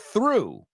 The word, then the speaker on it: through: The first one, through rhymes with through. See, through, they're homophones.